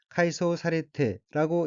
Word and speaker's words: 改装されて: 첫째 줄 맨 오른편 어깨는 한자가 한국어로 개장이고 고칠게, 꾸밀 장자로 되어 있고 일본어로는 카이소 사레테라고 읽으며 카이소 사레테는 외관, 장식, 설비 등을 새로 단장하다, 개조하다는 뜻의 카이소스루의 수동형 카이소 사레루, 개조되다의 태형으로 카이소 사레테는 개조되어 란 의미입니다.